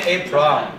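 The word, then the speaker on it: A′: 这念 A prime，不要跟欧美，他会就被烂搭，这叫 A prime。那你知道什么叫 A prime 吗？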